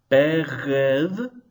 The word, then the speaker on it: Begadkephat: So if I'm pronouncing carefully, which I don't always do, it will be Begadkephat.